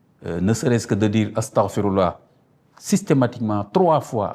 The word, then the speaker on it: astaghfirullah: Ne pas dire ne pas dire astaghfirullah astaghfirullah astaghfirullah non, faut dire astaghfirullah astaghfirullah astaghfirullah.